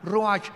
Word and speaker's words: ruach: Y la palabra para espíritu en el versículo 29 es la palabra, se escribe ruach, como suena, con R de Raúl, CH al final, ruach, y se pronuncia ruach.